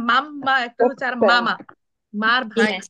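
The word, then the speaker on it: mamma: করব আমরা বাব বো বাব বো তারপর আরেকজন মাম মা কিভাবে আমরা উচ্চারণ করি মাম্মা আচ্ছা এই মাম্মাটা যেমন হচ্ছে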